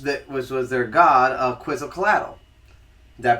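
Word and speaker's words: Quetzalcoatl: mythology which was that which was their God a quiz cadle did that pronounce that correctly I believe qu cadle yeah okay see I did better on the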